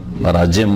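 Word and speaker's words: براجم: হাঁটুর নিচে, এগুলো হচ্ছে বারাজ, এগুলো ধুইতে বলা হয়েছে। না না জিম বারাজিম বললাম তো, উচ্চারণ করে শোনেন না।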